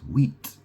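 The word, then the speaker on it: huit: You know in French the number eight is wheat and that's spelled h u i t who it or wheat.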